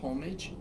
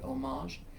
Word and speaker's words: homage: number 11 11 is called homage omaze and it's it's it's an homage to some people mispronounce it as homage but it's actually homage and it's an homage to the masters who've